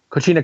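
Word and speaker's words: Coquina: put on the cic co how do you pronounce it coina clutch okay thank you Jeff um he put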